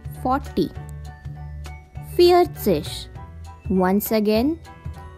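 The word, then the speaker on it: vier: thus so i own swanseas let's try next number drai on swanseash once again dry don't forget v has a sound of fur therefore fear own swanseas once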